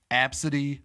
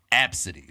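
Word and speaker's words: Abcde: a five year old girl her name is AB City Redford but what makes the name interesting is how it's spelled it was one of the weirdest names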